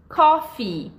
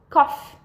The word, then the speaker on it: coffee: Então, ela termina com um I. Coffee. Só que muitas pessoas, elas pronunciam como cough.